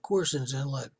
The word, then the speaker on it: Corson's Inlet: Well, the card though it's spelled Carson's Inlet, but it's Corson's Inlet.